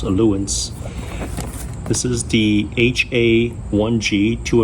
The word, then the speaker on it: Ailunce: look at this ratus I think it's pronounced alance this is the h1g